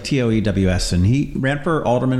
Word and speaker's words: Toews: Yeah, but it's spelled weird. We'll talk about that a little bit. It's like Toews.